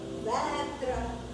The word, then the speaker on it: Vetra: And my second name, Vetra. Over the E, you have horizontal dash, that elongates it.